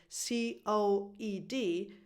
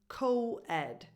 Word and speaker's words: coed: And the pronunciation is COED, because it comes from coeducational, so you just keep the first 4 letters, but the sound remains the same, COED. So just like co-op, COED.